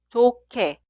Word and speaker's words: 좋게: Y siguiente frase se escribe así, pero suena 좋게, 좋게, 좋게.